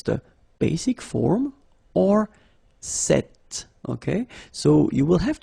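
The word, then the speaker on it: cette: So it's quite interesting because if you listen carefully, the masculine form here, cet, and the feminine form here, cet, you write them differently, but then you pronounce them the same way.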